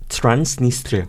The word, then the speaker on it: Transnistria: Okay, and so, but this, how do you pronounce that? Transnistria.